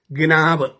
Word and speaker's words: gnaw: GNAW spelling, ഉച്ചാരണം നാവ് എന്നാണ്, ഗ്നാവ്.